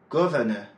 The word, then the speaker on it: governor: « governed », « governor », « governing », « government », « accident », « accidental », « normal », « normally ». À chaque fois, l'accent est placé sur la première syllabe.